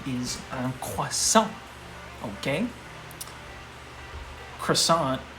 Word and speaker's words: croissant: right is um okay croissant i would say is how you say it in english but in french you've got to really put the emphasis on the r right right you know and